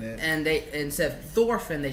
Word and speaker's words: Thorfinn: And they, instead of Thorfinn, they said like Thorfinn. Which is the actual correct pronunciation.